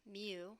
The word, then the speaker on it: mu: need to calculate our mu remember this is pronounced mu this population mean here and the way we